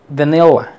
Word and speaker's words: vanilla: Vanilla, vanilla. Fíjate bien. Nilla, nilla. Vanilla. Se prolonga y es más fuerte.